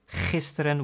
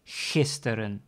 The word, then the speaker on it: gisteren: You can pronounce it as gisteren with a hard G, as you've learned in the lesson about pronouncing the G sound, or with the soft G, gisteren.